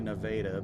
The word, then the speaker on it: Nevada: It's actually Nevada, but people love to cause problems with pronunciations.